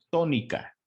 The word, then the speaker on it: tónica: Y la sílaba tónica se encuentra en la antepenúltima sílaba. ¿Sí?